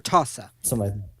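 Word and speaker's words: RTASA: go to our tas i believe that's pronounced r-t-a-s-a or tosa and that stands for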